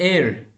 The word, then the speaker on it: heir: And heir. Heir. E. E is a part of a vowel. So here also H is silent, we will be using a.